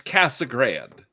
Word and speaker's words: Casa Grande: If you're a local like to the Phoenix area, it's Cassag Grand. It's always been Cassag Grand.